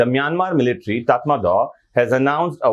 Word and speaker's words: Myanmar: तो म्यांमार जो है वो हिंदी में हम कहते हैं, इसका प्रोनाउंसिएशन है म्यामा। म्यामा इसका है प्रोनाउंसिएशन, पहले इसे बर्मा के नाम से जाना जाता था, आपको जानना चाहिए।